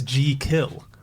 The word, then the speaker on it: Jekyll: The first one is we're all saying it wrong. It's G-Kill. G-Kill. G-Kill. If you were pronouncing it, it's J-E-E and then kill.